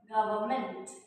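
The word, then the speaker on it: government: Salal is द गवर्नमेंट गवर्नमेंट। अब ये होता तो एन है बीच में लेकिन इसको हम पढ़ते नहीं है।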